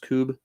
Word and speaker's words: Kubb: It's spelled Kubb, but it's pronounced Cube.